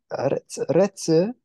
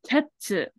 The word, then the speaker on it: 鉄: It's some retsu. Not Close. retsu. It is tetsu.